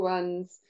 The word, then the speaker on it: one: help our very little ones um straight away when they see that word one rhymes with sun Shu rhymes with zoo